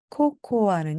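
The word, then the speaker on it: cocoa: 주시기 바랍니다로로 로입니다 코코아는 영어로 코코 코코입니다 나는 코코아로 마실래요 하면은요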